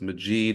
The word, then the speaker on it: Majeed: kind of repeat the first name so it's maid and then magic kind of helps you remember Majid magic so you're either going to remember magic or you're going to remember maid you don't need to remember then I